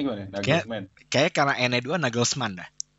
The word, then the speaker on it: Nagelsmann: Bacanya gimana? Nagelsmann.